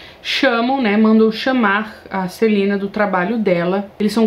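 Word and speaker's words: Celaena: Tive que assistir a entrevista da Sarah J. Maas para saber pronunciar o nome dela, mas é Celina.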